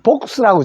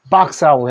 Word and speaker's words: box: 근데 우리 상자는 복스라고 잘 안 해요. 그죠? 박스라고 해 주십시오. 박스.